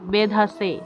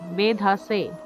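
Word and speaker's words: বেধসে: বলি ঠিক তেমনি এই দন্তস এর উচ্চারণ হবে স এর মত অর্থাৎ দন্তবর্ণ জিহ্বাটা ঠিক দাঁতে স্পর্শ করবে সা তাহলে এর উচ্চারণ হবে বেধাসে বেধাসে তারপর দেখুন লেখা আছে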